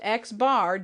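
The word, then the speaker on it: x̄: with the bar on top of it it's pronounced xbar denotes the mean of the set of sample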